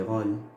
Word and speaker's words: rôle: On prend le mot rôle. Ici, regardez, rôle. Alors là, nous avons le O, et juste après, il y a le son, le L, n'est-ce pas? Mais j'ai mis le O fermé. J'ai pas mis le O ouvert. Pourquoi? Pourquoi je n'ai pas appliqué la règle 3? Parce que là, regardez bien, nous avons un chapeau sur le O.